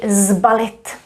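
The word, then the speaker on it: sbalit: say slip it but here we do say zbalit and that means to pack ballet to be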